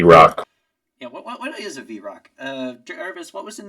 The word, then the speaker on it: vrock: what the Z Rock yeah what is a vrock uh irvis what was in that book you